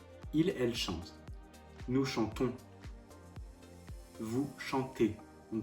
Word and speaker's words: chantez: que pour jeu il/elle chance nous chantons vous chantez ne prononce pas le zen vous chantez il elle